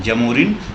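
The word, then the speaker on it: Zamorin: और इसका हिंदी जो जमोरिन है जमोरिन एंग्लीसाइज वर्ड है। ब्रिटिशर्स अच्छे से प्रोनाउंस नहीं कर पाए तो उन्होंने जमोरिन बोल दिया। इसका जो हिंदी टर्म है समुत्रिन है। समुथिन।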